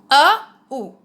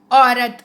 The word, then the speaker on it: औरत: This letter is O. The sound is A, U. O. Aurat. Aurat. Aurat means woman. Some people pronounce it Au. Aurat. No, it's not correct. O. Aurat. Okay.